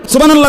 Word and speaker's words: সুবহানাল্লাহ: তো সুবহানাল্লাহ কইয়া যে থামিয়া গেলেন, তো লামের মধ্যে থামিয়া গেছেন, তো আল্লাহ শেষে যে আরেকটা গোল হা আছে, এটা কই? সুবহানাল্লাহ সুবহানাল্লাহ সুবহানাল্লাহ, তো হা উচ্চারণ কই? শেষের হাটা কই?